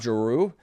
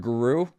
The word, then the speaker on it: Giroux: They brought up Jeru or Giroux. It's That's a tougher name for me to say cuz it's spelled just in the worst French way where you're just adding words or letters in that aren't there.